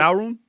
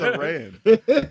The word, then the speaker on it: Aran: Arum? Who? what? Arum? Sorry. They be saying it wrong online. I hate it. Oh. I'm Arum. like, who the hell? What? Aran.